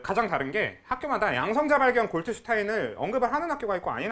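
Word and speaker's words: Goldstein: 그 가장 다른게마다 발견 골트 슈타인은 언급을 하는 학교가 있고 아닌 학교들이 있고 그래요음 그걸 골드 슈타인이 하기도 한는데 골드슈타인 잘못된 겁니다 그 그 사람 미국 사람이 아니라서 골트 고고 발음해야 되는게 맞아요 그래서 아무튼 골트 슈타인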